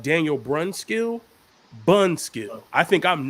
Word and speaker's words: Brunskill: my name like that if you're going to say my name you say my name correct it's brunskill if you can't say